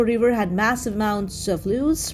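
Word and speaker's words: loess: had massive amounts of loose pronounced like the english word less a fertile sediment that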